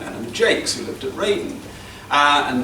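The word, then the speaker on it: Jaques: fully realised, concerns Eleanor Jakes. I think it's pronounced Jakes rather than Jarks. I think authorities differ on this, but her daughter always used to say that it was Jakes.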